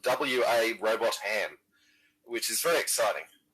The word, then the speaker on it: Robotham: Robot Ham, which is very exciting. I'm not sure that's actually how you pronounce it. It might be Robotham, yeah. Robotham, yeah.